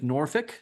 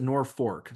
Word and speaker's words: Norfolk: Norfork they pronounce it Norfork. So if you ever get there, make sure you pronounce the R.